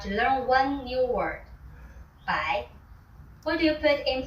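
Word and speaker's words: 百: Then for 100 you have to learn one new word by.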